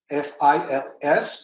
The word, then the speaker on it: fils: And in the case of the French, would be using the form fils, F-I-L-S, or fils, pronouncing the word son.